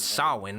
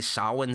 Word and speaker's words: Samhain: Loomis finds the word Samhain written in blood at a school, which Loomis mispronounces as Samhain.